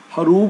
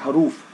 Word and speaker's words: ہروب: Actually ये लफ्ज़ हरूब है, बी आता है एंड पे बे।